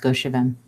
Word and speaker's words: Goshavem: As she looks to Goshavem, which is just a cool name, and I'm going to keep mispronouncing it. That's how it's pronounced, Goshavem.